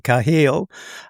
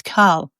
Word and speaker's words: Carl: If I look at some of the names um led by maybe perhaps Sainsley Kahil. Um I hope I'm pronouncing that correctly. No, you didn't. It's Carl.